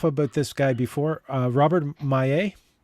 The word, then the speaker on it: Maillet: I have gone on or off about this guy before, Robert Maillet. Or Mallet, however you want to pronounce it, but I believe it's Acadian, so it's Maillet. Maillet, yeah.